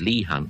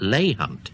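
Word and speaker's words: Leigh Hunt: have pointed out that Lee Hunt is Lee Hunt, not Lay Hunt.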